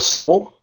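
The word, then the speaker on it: Seoul: Is it in I don't know how to pronounce it. Seag like s e o u l or soul soul. Soul. Yeah.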